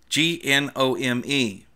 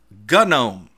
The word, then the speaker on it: GNOME: the main boom to version which runs gnome GN om e in the US Canada and the UK and